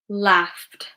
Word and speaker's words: laughed: Laughed, laughed. Okay. It's a tuh sound because it ends enough signed ff, ff sound.